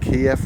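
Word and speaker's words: Keyif: you can see that i believe it's pronounced kiev restaurant k-e-y-i-f they have a gorgeous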